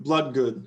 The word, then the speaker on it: Bloodgood: Her name is Moon Bloodgood. So she has 3 double O's and they're all pronounced differently.